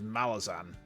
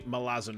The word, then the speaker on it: Malazan: feels odd pronouncing out there because I always pronounce it as Malazan when I was like a fresh-faced young reader of the series and it turns out no it's actually melazzin it's in M apostrophe tips for Dora lazen